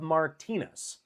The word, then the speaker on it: Martina: sweetest the jenest of Martinas wait did I say that wrong Martina yeah I said it right right all right cool